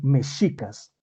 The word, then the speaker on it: mexicas: Es decir, el sonido que se coloca ahí como J, como hoy en día lo pronuncia uno como J, en su momento, en Nahuatl, se pronunciaba como sh, como cuando uno calla a alguien, sh, SH, ese es el sonido, SH, ¿sí?